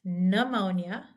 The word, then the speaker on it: pneumonia: so this is pronounced pneumonia pneumotox we don't say pnea I couldn't even do that um we this the p is silent in the beginning of the party we're